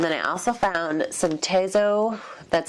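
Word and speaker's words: Tazo: And then I also found some Tezo, that's how you say it, tea, which is pumpkin spice chai.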